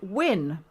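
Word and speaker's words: Ouen: Well, I can tell you that the pronunciation of Uan, which we always said Uan, is actually Wen, because we gathered some New Caledonia friends, and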